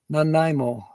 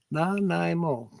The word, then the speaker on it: Nanaimo: Nanaimo. Nanaimo.